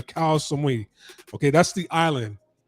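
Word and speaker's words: Koh Samui: at a hospital in cow Samui I believe that's how you say it koi Samui or cow somebody okay that's the island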